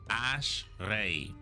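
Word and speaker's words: אשרי: Ash, followed by your re, which is an R letter, but you make that R sound as if you're goggling water. Reed by your ter. This uh vow, you mix it as if you're smiling. A ter. So this uh syllable is going to be ray ashray.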